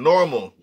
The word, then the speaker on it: NORML: NORML, not AL, NORML, normal.